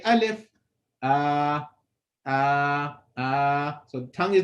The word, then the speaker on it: alif: go into c5 so ah uh simple no tongue movement no nothing just let the sound straight out of the mouth so that's the in a very simple not in a nutshell how you pronounce it alif it could it can't